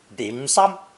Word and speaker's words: dim sum: and savory pastries and endless Cups of Tea dim sum is the Cantonese pronunciation of Mandarin shin changing my mouth Waters